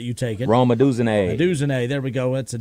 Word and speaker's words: Odunze: And I always mispronounce his last name, so I'll let you take it. Rome Odunze. Odunze, there we go.